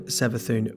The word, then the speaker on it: Savathun: Well, there is quite a lot of evidence to suggest it's Savathun.